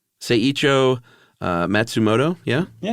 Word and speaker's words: Matsumoto: Seicho uh Matsumoto, yeah? Yeah. All right. And it was called Tower of Waves. I always depend on you for Japanese pronunciation. Well, then technically it's Matsumoto.